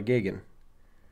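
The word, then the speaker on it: Geoghan: beginning of the movie father Gogan Gagan Kagan I don't how do you know how it's said cuz I remember the news pieces about it it's father gigan okay mister I have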